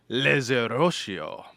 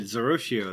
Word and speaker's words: Zerotio: I'm your host, Josh Augustine, and this week I'm joined by Zerotio. Hey, did I pronounce that right? You did, Zerotio.